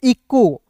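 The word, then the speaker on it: echo: क्या पढ़ेंगे दोस्तों इको ईचो नहीं पढ़ेंगे देखिए यहां पे इ का उच्चारण इ के रूप में हो रहा है। सी एच है दोस्तों तो च हो जाएगा। मची च नहीं होगा दोस्तों क होगा।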